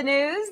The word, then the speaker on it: gnooze: Hello and welcome to the news. The G is silent.